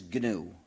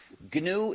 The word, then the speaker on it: gnu: much better than that GNU is the most humor charged word of the English language used in countless word plays because according to the dictionary the g is silent and is pronounced new so every time you